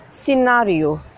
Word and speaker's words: scenario: Scenario. S-C-E-N-A-R-I-O, scenario. The C is silent.